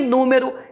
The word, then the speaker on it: número: para você lembrar que número é um proparoxítona e como todo proparoxítona o acento É obrigatório e o acento cairá na anti penúltima sílaba última me é penúltima